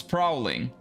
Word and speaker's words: prowling: It sounds like you're trying to say prawns. Well, yeah. The OW and the AW is a little bit close. But prowling is prowling. And prawns are prawns.